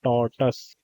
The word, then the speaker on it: tortoise: इसको tortoise बोलते हैं, tortoise नहीं बोलते। Tortoise is wrong pronunciation. Tortoise. The wise old tortoise moved slowly but always won the race against the proud rabbit.